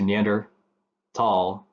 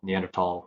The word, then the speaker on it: Neanderthal: also still pronounced tall so the H is silent but Germany they standardized